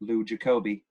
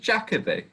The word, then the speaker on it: Jacobi: I believe that in America it's pronounced with the more Jacobi. Oh, like I know that it's Derek Jacobi. Yeah. I believe in America. You sure? Yes, I do. They like to emphasize the first syllable in America.